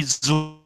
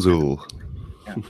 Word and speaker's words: Zuill: Yeah, you can think of me as being Zuill with cool. Oh, the cool Zuill.